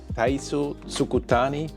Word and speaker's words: Taizo Sugitani: And I'm sitting together with a 6-time Olympic rider, Taizo Sugitani. I'm not sure if I'm pronouncing this right too.